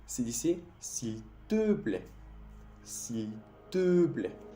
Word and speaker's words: s'il te plaît: S'il te plaît. El E que te puse en rojo, el primer E en la pronunciación, se dice E. E. Eso es un sonido tampoco que no existe en español.